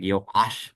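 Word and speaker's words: יועש: Even though in modern Hebrew we pronounce the ayin and aleph the same, so the name sounds the same, but Yoash is more correctly pronounced something like Yoash, right?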